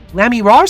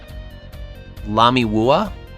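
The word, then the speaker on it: Lamiroir: Lammy Raw's singing, right? The siren of the ballad? Lamy Wua? Wua? Sorta. Like, it's got a rhyme with noir. Lamy Raw.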